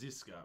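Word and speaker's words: Žižka: pronunciation in there um I believe the pronunciation is zizka but uh yeah so there's like a little little like almost like a shallow V over the Z and a shallow V over another Z and yeah I'll look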